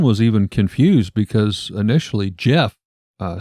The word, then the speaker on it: Gef: get too much further Jeff spelled with a g g e f yes but anyway you